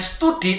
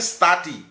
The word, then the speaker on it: study: Study, enggak enggak boleh bacanya study tapi study. Lah ini bacanya a, ya.